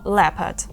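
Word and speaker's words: leopard: є слово lepad і в ньому о взагалі не читається Ми кажемо lepard літера P приклади слів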